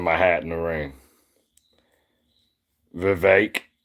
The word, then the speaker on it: Vivek: Vivek rhymes with cake.